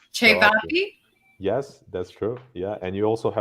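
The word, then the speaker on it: ćevapi: Chevapi. Chevapi?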